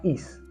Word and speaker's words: hic: tuvieron el verbo hacer cambia su raíz por x que se pronuncia is yo hice tú o